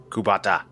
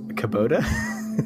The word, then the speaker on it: Kubota: a cubato bottom yeah kubata kubata i don't think that's how it's pronounced i think it's kabo kubota kubota there we go hey i've never heard